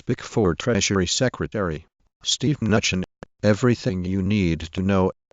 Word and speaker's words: Mnuchin: Here's everything you need to know about Mnuchin. Name. Stephen Terner Mnuchin. Pronounced Min-OOCH-in.